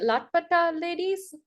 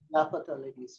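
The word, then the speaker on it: Laapataa Ladies: But the year Lat I don't know how to pronounce it. Latpata Ladies? Lapata ladies.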